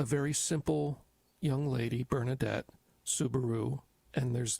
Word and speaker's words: Soubirous: A very simple young lady, Bernadette Soubirous, and there's different ways people pronounce that, but it's Soubirous.